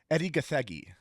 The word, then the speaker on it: Gathegi: That is Eddie Gathegi.